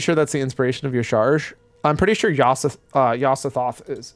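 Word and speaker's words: Y'Shaarj: It's pronounced Yasharaj? No, bite me. No, it's not. Yasharj. Because it says the word Shah in it.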